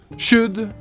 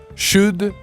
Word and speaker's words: should: Ici, vous avez les modos should et could, et non pas should et could.